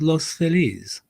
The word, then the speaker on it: Los Feliz: Well, we all say Los Feliz, but if you are an old school Latino, you'll say no, it's Los Feliz.